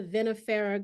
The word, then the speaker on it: vinifera: Tell me about the vinifera grape, is how you pronounce it?